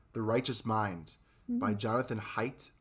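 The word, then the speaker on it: Haidt: righteous mind by jonathan height i think you pronounce him h-a-i-d-t now um depending on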